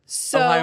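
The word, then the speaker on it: おはよう: out shout out love Ohio is how you say hello in Japanese so I didn't just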